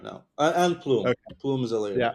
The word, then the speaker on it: Plume: Uh we're on Ethereum layer twos right now and plume plume is a layer.